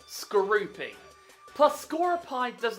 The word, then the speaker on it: Skorupi: And yet some stupid people call it Scorepi. It doesn't have an E at the end of its name. If it did, then it would be Scorepi. But it's Skorupi.